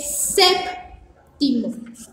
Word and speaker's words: séptimo: Sigue séptimo. Es un 7 con un ojito y se dice séptimo. Séptimo, séptimo, así, sep con P, timo. La palabra séptimo lleva tilde en la E.